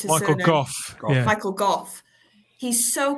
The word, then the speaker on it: Gough: And what I love about the performance is with the Michael Gough, I don't know how you pronounce his surname. Gough.